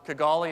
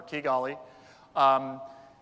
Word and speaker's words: Kigali: One of them is Rwanda, Kigali, and now I know I've mispronounced it thanks to the other speaker from Kepler, Kigali.